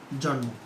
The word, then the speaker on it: জন্ম: ঠিক আছে, আবার উচ্চারণ কি হবে? জন্ম।